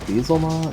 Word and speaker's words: Beelzemon: Beelzemon? No, it's Beelzemon.